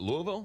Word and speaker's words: Louisville: So the reason why you're here is because and how do you say? Is it Louisville? Louisville. Louisville.